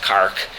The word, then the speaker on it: Cork: I was in a pub in Cork, Ireland, pronounced Cark.